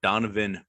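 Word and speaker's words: Dohnovan: out of arizona state donovan west with an h the h is silent uh this guy i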